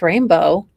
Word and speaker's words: Rain Blue: Siamese cat rain blue oh pronounced rainbow well okay really really it it's spelled and I quote rain blue why why do people do this to me rain blue pronounced rainbow you people are butchering